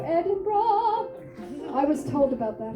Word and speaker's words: Edinburgh: it tomorrow I'm sorry there's only two syllables there we go Edinburgh I was told about